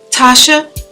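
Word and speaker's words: T'Sha: I'm gonna link her video either here or in the description box, but her name is Tasha, but it's spelled like T''SHA, Nicole, and she is so adorable and we like a lot of the same stuff.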